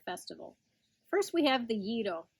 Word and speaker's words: gyro: first we have the yiddle commonly known as gyro but that's not really how you say it it's spelled with a